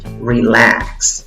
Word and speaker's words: relax: Y en la segunda sílaba tienes el sonido de una A que se ríe. Acuérdate, esa A que no tiene sombrerito, que no tiene puntos arriba, es una A que se ríe. Para poder pronunciarla tienes que tirar los labios hacia atrás, hacia las orejas, como si estuvieras sonriendo. ¿Cómo pronuncias esta palabra? Relax, relax. Relax. Si no sonríes, no te va a salir.